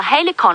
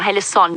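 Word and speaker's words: Halcyon: Now, Helicon or Helison, depending on how you pronounce it, here's the fun story behind that.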